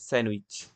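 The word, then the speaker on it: sandwich: ঠিক একই রকম ভাবে স্যান্ডউইচ, স্যান্ডউইচ আমরা হয়তোবা অনেকেই ডি এর উচ্চারণ সহ বলে ফেলি, কিন্তু গ্রামাটিক্যালি তা ভুল। এটা হবে স্যান্ডউইচ, ডি সাইলেন্ট থাকবে।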